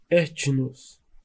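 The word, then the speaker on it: ἔθνος: Nação, no grego se pronuncia etnos, povo, etnia, grupo cultural.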